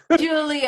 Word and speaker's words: Jiulio: And the first name is Julio, but 99% of people get it wrong. Julio.